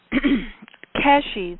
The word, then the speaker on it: Keshe: to cover here but Keshi the guy who is the inventor I don't think I'm pronouncing it right. I think you pronounce a kesh, but it's it's spelled ke e if you want to google it.